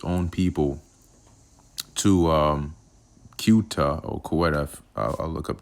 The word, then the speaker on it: Ceuta: Um Okay, it says this is pronounced as Ceuta in English and Theuta or Seuta in Latin.